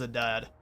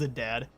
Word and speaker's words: Adad: hey toosa welcome on in his name is a dad his name is a dad basically or you saying that's the correct pronunciation for itz he is properly the dad